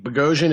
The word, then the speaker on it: Boghossian: It's like explosion with a B. Beian explosion.